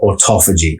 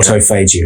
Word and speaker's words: autophagy: ketosis we then go into autophagy or autophagy however you want to pronounce it and that's when the